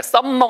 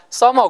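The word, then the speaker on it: summer: 그냥 들어 2세 앉게 썸머 가 아니라 서머 구나 그래서 비슷한거 mm2 우리가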